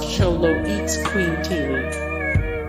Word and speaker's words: Xoloitzcuintli: Dante is a Xolo, short for Xoloitzcuintli, pronounced Xoloitzcuintli.